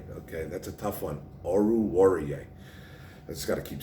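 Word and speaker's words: Oruwariye: he's a sleeper of mine i like amari oruarier and i said it i said it right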